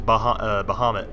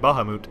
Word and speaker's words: Bahamut: I used to always say it as Bahamut when I was younger, but I guess I think I heard it in Final Fantasy 12 pronounced for the first time, and they said Bahamut, I believe.